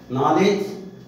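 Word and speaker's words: knowledge: नॉलेज, इसमें के silent होता है, नॉलेज माने ज्ञान होता है, आप सभी जानते हैं।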